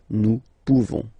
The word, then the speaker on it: pouvons: You don't pronounce the final S. Nous pouvons.